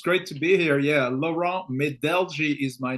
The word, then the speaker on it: Laurent Medelgi: Yeah, Lauron Medeli is my name.